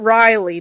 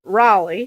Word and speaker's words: Raleigh: He um, he told me how to say it's not Riley, North Carolina. It's Raleigh.